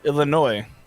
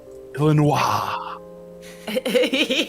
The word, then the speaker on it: Illinois: It's like Illinois. It's the same thing. Oh, that's right. So there's an S and you don't pronounce it, or you do, and then people look at you like you're weird.